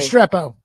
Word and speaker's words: Restrepo: But the kid that I absolutely love that he didn't get drafted is Xavier How do you pronounce his name? Restrepo.